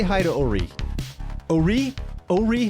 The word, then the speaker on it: O'Ree: let's say hi to Ori Ori Ori how do you say your name my name is a wreath ello REE REE the emphasis on the are you know it's French in yeah you know I